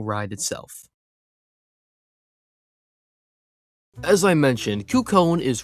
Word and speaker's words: Cú Chulainn: And yes, it's pronounced Cú Chulainn. I get that the Irish language makes no sense, but at least try to get it right. Cú Chulainn, off.